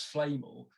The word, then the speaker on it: Flamel: And it's an American YouTube video that literally says Nicholas Flamel.